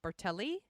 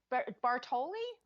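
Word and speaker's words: Batali: So right now we have Mario Bartelli, right? Did I pronounce that right? No. Shit. What is it? Wait, no, it's Bartoli? Bartoli? Yeah.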